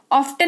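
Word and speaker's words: often: टी के पहले एफ लगा हुआ है तो टी का उच्चारण नहीं किया जाएगा।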